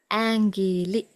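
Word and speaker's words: ඇඟිලි: Yes, the word is angili, angili.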